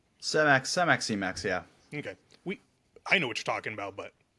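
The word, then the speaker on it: Semax: talk about the combination of Selenk and you pronounce it Cemax, Cemex. Cemax, yeah.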